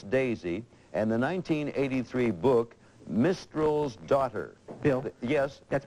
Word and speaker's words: Mistral: movies, including Princess Daisy and the 1983 book Mistral's Daughter. Bill? Yes? That's pronounced Mistral.